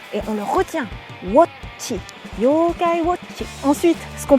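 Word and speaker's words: 妖怪ウォッチ: Avec la bonne prononciation, Yokai Watchi. C'est un wo, un o. Non pas wa, mais wo, et on le retient. Watchi, Yokai Watchi.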